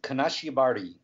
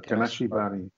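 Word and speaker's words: 金縛り: always wanted to ask you, how do you pronounce that Japanese word that means like sleep paralysis or the old hag? Is Kanashibari. There you go, Kanashibari.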